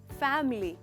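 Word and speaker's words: family: नहीं, इसका सही प्रोनाउंसिएशन है फैमिली। फैमिली, इसमें इस वर्ड में सिर्फ 2 हिस्से हैं।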